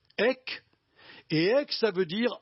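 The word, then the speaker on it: ἐκ: Elle se prononce en grec EC.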